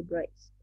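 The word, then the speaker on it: Wrisberg: Intermediario de, se escribe así, Breisfeld. Breisfeld. Pero se lee intermediario de Breisfeld.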